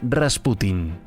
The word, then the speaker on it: Rasputín: de la dinastía romanov Rasputín es la transcripción al español procedente de la francesa Aunque más con la pronunciación en ruso es la forma rasputin damos la palabra a